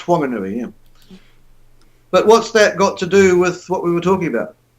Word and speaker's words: Whanganui: Yeah, pronounced Whanganui, yeah.